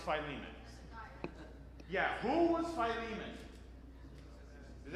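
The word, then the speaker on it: Philemon: It's not Filimon. It's Phileiman.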